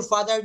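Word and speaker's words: father: দেখেন এই যে ফাদার উচ্চারণ করলাম এটা ব্রিটিশ এক্সেন্টে উচ্চারণ করতে গেলে তারা বলে ফাদার। ফাদার হয়াট ডাজ ইর ফাদার ডু বলে হোয়াট ডাজ ইর ফাদার ডু ফাদার এই রটা তারা সাইলেন্ট করে রাখে রটা কিন্তু তারা উচ্চারণ করে না রটা তারা উচ্চারণ করে না তারা বলে হয়া ডাজ ইর ফাদার ডু এই ফাদারকে ফাদা বলা হচ্ছে আচ্ছাসারে কি বলছে হি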